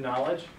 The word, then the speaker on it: knowledge: let's listen to this you ever wonder why there's an end in knowledge for to know but you don't pronounce it well it's a derivative